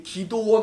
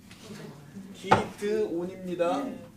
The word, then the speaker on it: 기드온: 이 기도원 아니에요. 기드온입니다. 제가 발음이 좀 그래서 그런데 기도원 아니고요.